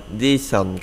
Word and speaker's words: decent: bạn ha desent salary desent đọc là tính từ này là tính từ mình đọc là disent các bạn đọc decent các bạn nha Đó là tính từ hai âm tiếc thì mình đọc nhấn âm trước decent salary salary salary